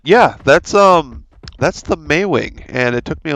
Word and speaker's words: Maewing: how to pronounce it it's like the month of may and then wing uh for some reason i wanted to call it a mauling but anyway so that